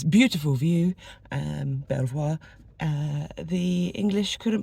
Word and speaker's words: Belvoir: It's Belvoir Castle, not Belvoir, how it definitely is written down, but it's Belvoir Castle.